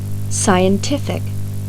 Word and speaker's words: scientific: Например, при добавлении суффикса IC. ударение перемещается на слог, предшествующий этому суффиксу. Послушайте следующие пары слов. Artist. Artistic, Economy. economic, Scientist. scientific, Optimist.